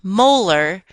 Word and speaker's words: molar: Notice that this term is pronounced molar.